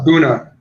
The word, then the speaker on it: A'bunadh: Just make sure you call it Abuna.